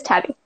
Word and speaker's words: Tabi: It is Tabi, right? Yes, it is Tabi. I want to make sure I was pronouncing it correctly.